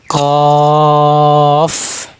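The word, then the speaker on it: ك: কফ এই কাফ হরফ। কাফ হরফ। জিহ্বার মানে এই কফ হরফ যে উচ্চারণ করছি।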